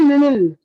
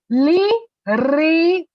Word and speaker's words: Liril: I would always say Lilil. मुझे Liril बोलने ही नहीं आता था. मैं Lilil बोलती थी या Lilil बोलती थी. But then as I kept growing up, I was able to say it correctly.